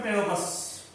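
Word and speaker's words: Pteropus: इसका scientific name है प्टेरोपस। टेरोपी silent है, टेरोपस बोल दो।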